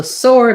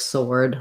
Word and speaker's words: sword: Sword is actually the same as this kind of sword, like the bird soared in the air. The W is silent, and the or actually does say or in this word.